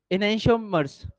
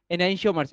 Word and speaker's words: enantiomers: अगला लिखो, इनैंशियोमर्स। अगली हेडिंग है इनैंशियोमर्स, स्पेलिंग ENANTIOMERS, इनैंशियोमर्स, ENANTIOMERS, इनैंशियोमर्स।